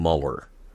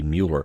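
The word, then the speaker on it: Müller: us on our pronunciation I was saying Mueller and I probably got us started on that Alan says it would typically be Mueller and I I should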